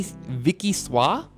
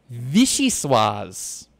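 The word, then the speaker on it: vichyssoise: fire's out what a Vicky Vicky SWA how do you say that it's a cold potato and leek soup no it's Vicky Vichy suas there we go vichys hello mahogany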